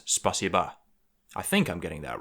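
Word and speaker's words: спасибо: Which is why it's not spasibo, despite the fact that it's spelt that way, it's spasiba.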